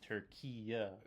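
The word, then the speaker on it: Türkiye: animal here we go so they put the e at the end Tura Tura okay so that's how you say it now okay uh same thing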